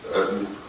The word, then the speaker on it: Utton: My name is Ayden. Last name is spelled U-T-T-O-N. It's just like button, but there's no B.